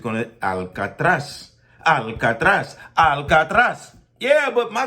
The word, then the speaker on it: Alcatraz: need to understand that there is no alcatra it's alatas Alat okay so you want to get it correct you want to say it properly it is Al I'm not invalidating and